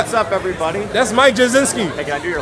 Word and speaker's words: Jachcinski: Mike Jacinski.